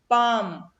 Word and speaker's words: palm: Palm. L is silent.